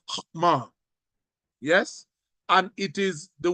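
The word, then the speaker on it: חָכְמָה: It's pronounced hokmah.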